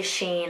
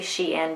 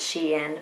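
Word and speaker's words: SHEIN: lot of people say sheen i always say she in because it's short for she inside and so i just pronounced it she in but i got it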